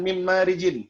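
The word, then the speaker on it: مِن مَّارِجٍ: Kemudian mim marijin, min spasi marijin, min spasi marijin. Jadi bukan min marijin, bukan min marijin bacanya, melainkan langsung diidghamkan secara kamil. Mim marij.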